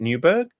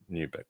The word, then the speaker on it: Newburgh: This is the uh new is do you pronounce it Newberg? Yep. Just like that. Newberg.